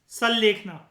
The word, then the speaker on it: सल्लेखना: सल्लेखना, ठीक है। सुल्लेखना भी कहते हैं कई लोग, इसे बुक्स में अलग अलग स्पेलिंग लिखी होती हैं।